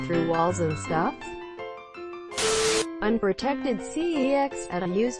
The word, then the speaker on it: CeX: walls and stuff unprotected cex Adam use the electronics games retailer whose name is pronounces sex I miss cex excellent